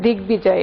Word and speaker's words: দিগ্বিজয়: বফলার উচ্চারণ বহাল আছে আসলে দিগ্বিজয় এটাতে, আর এখানে তো বিল্ল, দ্বন্দ্ব, এখানে তো উচ্চারণ নাই, এটাও দ্বিতীয় উচ্চারণ, পক্ক এটাও দ্বিতীয় উচ্চারণ।